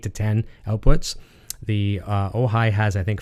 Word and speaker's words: Ojai: But you can't see it inside there right now, but I mentioned I'm using the Strymon OJ. No, I said it wrong. Ojai. It looks like OJ.